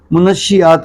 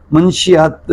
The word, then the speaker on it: منشیات: Case discuss کرتے ہیں۔ اس کا اصل تلفظ منشیات ہے، لیکن عام طور پہ اس کو غلط العام میں منشیات جو ہے وہ کہا جاتا ہے۔ تو اگر ہم منشیات